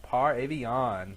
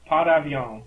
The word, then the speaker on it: Par Avion: a particularly interesting episode with uh episode 312 par Avon or uh what's the French pronunciation Justin uh pavon yes thank you yes I would like a